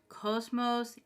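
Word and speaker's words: κόσμος: Pronunciation is cos mos.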